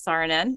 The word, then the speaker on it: Saarinen: So this quote, this is from an architect, Elil Saarinen, says, am I pronouncing it correctly? Do you know? I do not speak Finnish. I think know. It's Saarinen, Elil Saarinen.